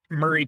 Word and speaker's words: Maury: And Murray County, which is spelled Maury, yeah, wanted to get a hold of that land in order to, put in a fancy development.